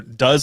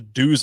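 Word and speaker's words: Duz: It's spelled D-U-Z. So I'm like, Do's? And I literally hit publish and I looked at the word and I'm like, oh my God. It's does. Yeah.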